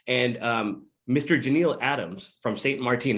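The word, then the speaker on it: Saint Martin: Janeel Adams from St. Marteen, is that how you say it, bro? St. Marteen? St. Martin. Is it Martin?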